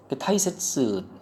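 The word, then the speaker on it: 大切: 칸가에로 아시고 히토리 후토리도 아실 거고 타이세츠 이게 발음 조심하라고 그러죠. 이게 다이가 될 때도 있고 타이가 될 때도 있고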